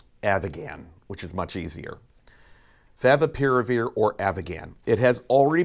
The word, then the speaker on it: favipiravir: of, and I'm going to slow down to pronounce this, Favipiravir, or Avigan, which is much easier. Favipiravir or Avigan.